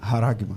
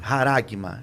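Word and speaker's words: χάραγμα: Eu creio que é assim que pronuncia. Haragma. Haragma.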